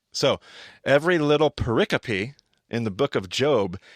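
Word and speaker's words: pericope: Paricopy. Paricopy. So, not paracoup apparently, but paricopy. All right. So, every little paricopy in the book of Job has some form of parallelism.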